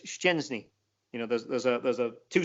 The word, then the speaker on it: Szczęsny: I mean, Arsenal had a goalkeeper in England for a long time whose name for some reason got interpreted as Chesney, and his name is Szczęsny.